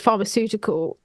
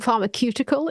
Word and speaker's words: pharmaceutical: longest time I thought the word pharmaceutical like I'd been saying pharmacutical in my head and if you watch